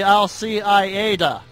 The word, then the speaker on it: Al-Qaeda: When you discuss Osama bin Laden's organization, the proper pronunciation should be Al-Qaeda.